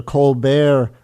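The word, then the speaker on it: Colbert: but it was the Colbear report. They were uh it was a joke on the way they pronounced the er in Colbear's name.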